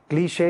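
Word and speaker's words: cliché: क्लीशे, इसको सही अपने प्रोनाउंस करना है, करेक्ट प्रोनाउंसिएशन करनी है CLICHE एक्सेंट के साथ। क्लीशे ये फ्रेंच वर्ड है, इसका मतलब है स्टीरियोटाइप।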